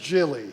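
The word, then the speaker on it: Gilley: well the name's pronounced Jilly yeah and then I said well of course that makes perfect sense that's the French pronunciation well my his Mickey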